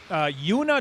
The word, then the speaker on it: Joona: Number 20, the senior, Joona Juntunen. I've got to pronounce one J hard and one J soft to get his name right.